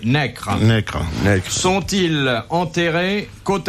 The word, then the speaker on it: Necker: Pourquoi Madame de Staël et Necker, prononcé Necre, sont-ils enterrés côte à côte à Genève?